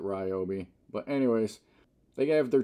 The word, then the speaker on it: Ryobi: now here's another product by Ryobi rii however you want to pronounce it does anybody pronounce it rii just wondering I've always pronounced it Ryobi but anyways they have